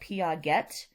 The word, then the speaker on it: Piaget: name is spelled like piaget but it is a french name and it's pronounced piaget